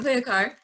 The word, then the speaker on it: Clay AKR: Am I supposed to pronounce it Akar, or I've never actually said it out loud? Clay AKR, yeah. Okay, great, Clay Akar.